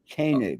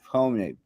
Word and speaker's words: Koenig: say my name right it's Kenny not homemade yeah oh there you go